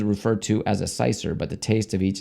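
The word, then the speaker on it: cyser: It's spelled It's spelled C-Y-S-E-R. Cicer. With a Y.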